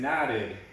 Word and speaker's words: knotted: wall i hurt knuckle knuckle number 10 is knotted knotted and not in my shoes so they wouldn't